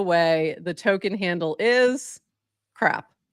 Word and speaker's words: CRAP: the token handle is crap. C-R-A-P. Which is just perfect. I think it's pronounced C-Rap, no? C-Rap, yeah, it's C-Rap. We have pronunciation issues here. I call it crap, but it's C-Rap, yeah.